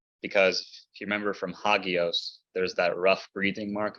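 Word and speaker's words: ἅγιος: if you remember from hagios there's that rough breathing Mark there and we talked about this last time yes it initially made an H sound but it isn't pronounced anymore it's still written and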